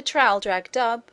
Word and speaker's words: Traldragdubh: It contained a warrant for conducting me and my retinue to Trildragdub, or Trildrogdrib, for it is pronounced both ways as near as I can remember, by a party of 10 horse.